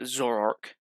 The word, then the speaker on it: Zoroark: With my favourite Pokemon actually being from Gen 5, the Zoroark. That's how you pronounce it, with Zora being its re-evolution.